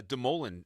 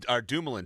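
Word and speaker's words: Dumoulin: other guys um uh the the suitor uh Demolan uh Dumulan trait. I said Demolan because that's how uh that's how Gary Bman pronounced it uh on the podium. He mispronounced uh Brian Dumlan's name.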